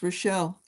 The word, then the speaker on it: Relle: Relle, I've been saying your name wrong. I've been calling you Rachel and it's Relle.